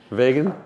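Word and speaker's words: Wegen: and uh it's made by a company called wegan it's uh in in Holland I believe right vegan ve there no one's ever going to pronounce it like that wean yeah spell w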